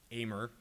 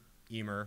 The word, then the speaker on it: Ehmer: now if one examines my last name amer eemer however you want to pronounce it with any kind of